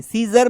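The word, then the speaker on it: scissors: इसका कोई साउंड नहीं सीजर में भी हमको पता है एस का मतलब स होता है तो एस के बाद सी को लिखने का कोई सेंस नहीं है हमने लिखा सीजर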